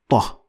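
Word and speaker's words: ط: Ta has no direct equivalent in English, but it could be compared to the heavy T in English. So that's why it is ta, ta. So you need to make sure that your tongue is all the way up to the roof of your mouth to produce the sound properly.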